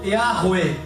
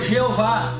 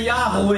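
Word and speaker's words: Yahweh: nome de deus que no original é policiado como ea rwe ea rwe ea e essa pronúncia foi traduzida para o latim vinculativo grego que chegou da palavra jeová da forma que nós falamos no português e roupa que roubar mas a pronúncia certa que é ea rua e e aqui é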